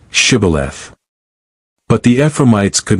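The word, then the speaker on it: Shibboleth: say Shibth. But the Ephromites could not pronounce it properly. They said Cibilith.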